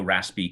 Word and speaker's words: raspi: sudo raspi config yeah i pronounce it raspy too just say that for